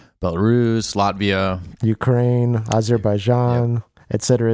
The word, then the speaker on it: Belarus: would change is uh my country is pronounced belarus i think belarus is actually another place a city somewhere that